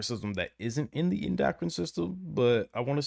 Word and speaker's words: endocrine: in here and told me it's the uh endocrine system that's what it's that's how it's pronounced the endocrine system so thank you thank